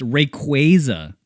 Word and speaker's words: Rayquaza: There's also there's a Pokemon Rayquaza, but apparently it's Rayquaza. Rayquaza.